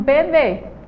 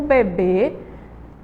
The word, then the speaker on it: bebê: é bebe certo e do outro lado a gente tem um bebê veja só na última sílaba de e tem um acento vamos chamar beber a última sílaba ia mais forte tá sem zoada certo